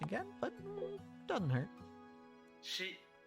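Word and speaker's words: シ: but it doesn't hurt she she pronounced like she like in the word sheep and you know the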